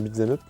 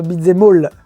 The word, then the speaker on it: beat'em up: Un beat'em up, un bon beat'em up. J'aime bien, tu le prononces bien. Beat'em up et pas beat'em all.